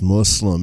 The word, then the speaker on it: Muslim: Muslim you're atheist also it's pronounced Muslim anyways let's listen to